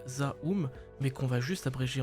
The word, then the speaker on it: ZA/UM: Donc le 23 février dernier, Zome qui se prononce en fait Zaum mais qu'on va juste